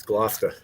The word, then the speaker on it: Gloucester: that's where you get your lobster from it's gloucester some of these have sounds right i